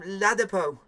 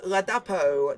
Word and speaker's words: Ladapo: He calls him Ladapo. Commentator, his name is Ladapo, not Ladapo. Our commentators thick when they say players' names.